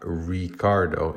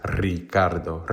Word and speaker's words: Ricardo: is is Ricardo the if your name starts with an R according to standard Spanish quote unquote your name is not Ricardo it's Ricardo Ricardo right and so